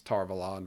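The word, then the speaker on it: Tar Valon: arguing about the pronunciation whether it's tarvalon versus tarvalin and I know Tom and I and uh you know we're on the page of like tarvalon because it's Avalon um and obviously that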